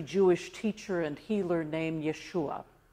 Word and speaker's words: Yeshua: teacher and healer named Yeshua or as we might pronounce it Joshua or as a Greek might say it Jesus in his short career